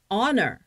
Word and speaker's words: honor: hour, H-O-U-R, hour, 시간 또는 honor, 영광 그럴 때는 an hour, an honor It is an honor.